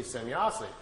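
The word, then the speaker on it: Semyase: Well, Billy was trying to make his notes and was trying to write it down phonetically how the name sounded to him. So he wrote it out, S-E-M-Y-A-S-E, Semyazi.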